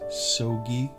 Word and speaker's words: Soggie: name is dr and i will be your instructor for this course if you're ever wondering how to pronounce my name it is soggy so just think of a stogie cigar and if you ever